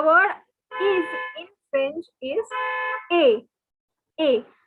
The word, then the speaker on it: est: So even though the spelling you can see as EST, and it is, you might be thinking it is est or east or some other weird pronunciation, but they have decided not to pronounce the S and T and to make our lives difficult. So instead of saying est or anything, it is pronounced as A.